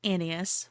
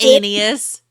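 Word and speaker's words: Annius: Two important ones were led by Claius and his rival Titus Anas Milo. Titus Anus. Sorry, I said Anas. No, you're right. You said it right. It's Titus Anus.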